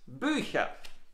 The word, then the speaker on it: Bücher: By the way, we remember the pronunciation of the last er, Bücher. We often pronounce it Bücher. So if you hear a, it's no Italian word like donna, gonna, bella. No, it's just a simple German word, Bücher, Männer, but pronounced Bücher, Männer.